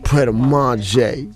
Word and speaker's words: Pret A Manger: How you say it? Manger. Pret a Manger. Where I was like, word? Is that what it's called? But it's funny because I always see it and I just go, manga.